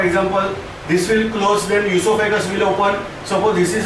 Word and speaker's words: oesophagus: Spelling starts with O. Don't pronounce as oesophagus. This is esophagus.